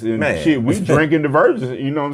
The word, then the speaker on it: DiverGents: She had to really tell me how to say it because I was like, DiverGents. And she was like, it's DiverGents. I was like, I figured it because, like you said, diverse, and then I said gentlemen.